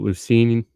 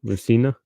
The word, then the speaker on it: Luciano: And Marco Lucini. How do you say? I can't even say his last name. Luciano.